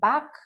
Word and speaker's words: Bach: Edward Park actually different people pronounce it in different ways it can be called back but I'm used to saying it dr. Edward back so here is he